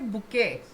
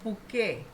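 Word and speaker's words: bouquet: पर स्पेलिंग पूरी याद करेंगे सब बी ओ यू क्यू ई टी पर बोलेंगे कैसे बुके हिंदी में लिखूं अगर तो बुके ब उ क ए बुके पर स्पेलिंग पूरी लर्न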